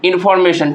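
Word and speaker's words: information: चार ये हो गया लेकिन देखिए प्राइमरी स्ट्रेस कहां लगेगा एम ए पर आपका जो है कि प्राइमरी स्ट्रेस लगेगा और सेकंड स्ट्रेस इन पे लगेगा यानी कि इसका आंसर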